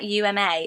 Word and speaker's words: Uma: that hasn't come back uma uma like Thurman um but I thought